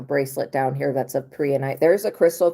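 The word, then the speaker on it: prehnite: So, when it comes to that, I don't know if I have a bracelet down here that's a prianite. There's a crystal called prianite.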